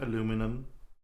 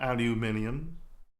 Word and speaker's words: aluminum: So, and said it's the only word I can think of is like I pronounce it aluminum, not aluminium. Spalion is exactly the same, different pronunciation.